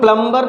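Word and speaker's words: plumber: होता है की ऐसा ऐसे कौन से वर्ड है जिसमें बी लेटर क्या है साइलेंट है तो आज तक आप लोग प्लंबर प्लंबर बोलते चले आए होंगे प्लंबर प्लंबर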